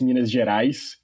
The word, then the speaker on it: Minas Gerais: It's Minas Gerais.